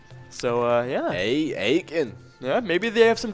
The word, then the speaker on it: Aitkin: the actual pronunciations is aiken because uh so what they know they do not eat their kin folks there don't pronounce the t in it it is it is